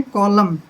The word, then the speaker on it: column: जैसे COLUMN, एन आया है लास्ट में एम के बाद, तो हमने इसको क्या पढ़ना है, कॉलम। एन नहीं बोलना है, कॉलम, कॉलम होता है खंबा।